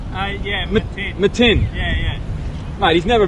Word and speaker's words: Matin: How do you actually pronounce? I've always called him Mutton. Yeah, Matin.